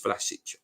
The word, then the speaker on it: Vlasic: I know that it is Vlasic.